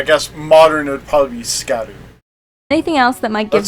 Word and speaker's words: Scadu: tree SC scad a scadu tree fragment and so uh it's uh Old English for shadow and that's how it's uh pronounced in old old English Shadow I guess modern would probably be scat anything else that might